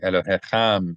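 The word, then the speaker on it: אֱלֹהִים: Elohim. Elohim. Elohim. We accent it because it has a meth, the little uh vertical line.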